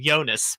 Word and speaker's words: Jonas: joke guy but yeah Jonas Brothers he didn't say right it's the yonas brothers okay you gotta say it like his name yonas Brothers uh 916 is